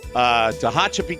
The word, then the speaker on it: Tehachapi: Thanks for the pronouncer. Yes. Tehachapi, California.